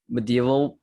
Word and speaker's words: medieval: The words is pronounced like it's separated. Yeah. So it's medi and then evil.